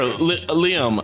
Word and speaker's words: Liam: Gater, that's how you pronounce it? Gater? You can just Gatar? My name is Liam. Who? Liam. Leo? You said Leo or Leo?